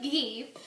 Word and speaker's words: ghee: that when you cook ghee pronounce the h very strongly you cook it you